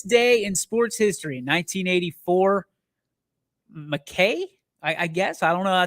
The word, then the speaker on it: Mackay: On this day in sports history, 1984, McKay, I guess. I don't know if that's how you pronounce it. Mackay, not Mickey.